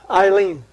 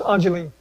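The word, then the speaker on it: Ayleen: Ajeline, spelled A-Y-L-E-E-N. Eileen, but it's pronounced Ajeline.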